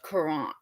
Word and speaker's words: courant: I haven't even studied the first word, but the other one is pronounced courant. Courant. It's like that, but you're supposed to say it in like a French accent.